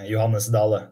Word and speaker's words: Johannes Dale: In Germany, we would say Johannes Dale, but I think that's not how you do it in Norway, right? Yeah, it was not so far off, actually. Okay. If I should pronounce it in Norwegian, it would be Johannes Dale.